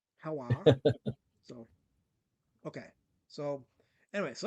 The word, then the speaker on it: HELWÄR: It's HELWÄR. HELWÄR.